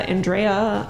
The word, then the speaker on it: Andrea: How do you pronounce Is it Andrea? Andrea.